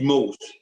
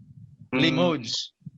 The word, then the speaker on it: Limoges: CSP Limoges. Limoges.